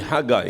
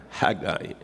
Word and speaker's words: Haggai: So, you'll pronounce it as like I.